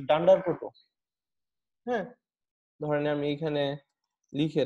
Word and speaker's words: __proto__: বারবার উচ্চারণ করতে হয়, এই জন্য এটাকে স্পেশাল নাম অনেকে উচ্চারণ করে, সেটা ডান্ডার প্রোটো।